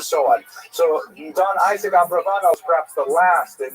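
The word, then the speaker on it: Abravanel: uh late 15th century as we see in Abraano. Uh much of this material is drawn from a very famous biography of Don Isaac Abraano. I should mention by the way many people pronounce the name uh Abarbanel and that's because of the uh it's much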